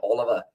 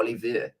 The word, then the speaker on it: Olivier: and then also Dwayne Oliver, or Olivier, in fact. I think they do pronounce that one.